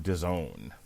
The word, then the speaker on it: DAZN: And on DAZN, which rhymes with calzone, as we know, Kovalev is fighting Milikuziev on DAZN.